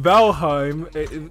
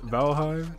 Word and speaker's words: Valheim: aside from me getting beat on we're playing valheim that's how you say it right valhave yeah yeah okay that's what we play in